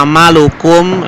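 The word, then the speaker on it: عَمَلَكُمْ: Makanya ini ya amalukum dibacanya kumnya jelas karena huruf depannya itu bukan mim atau ba, tapi waw.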